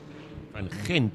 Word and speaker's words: van Gent: Van Gent, if you want to get it right.